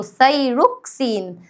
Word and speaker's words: ثايروكسين: انطقوا الأسامي والنبي عشان بتنطقوا حاجات غريبة. اسمه ثايروكسين.